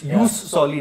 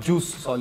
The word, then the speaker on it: jus soli: It's jus soli, not juice soli.